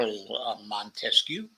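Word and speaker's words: Montesquieu: philosophers uh Charles Montes I should give the French pronunciation Char manescu who first wrote about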